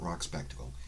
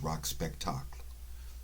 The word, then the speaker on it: Rock Spectacle: how this is pronounced it's French name not not an English one so it's not rock spectacle it's rock spectacle if you want to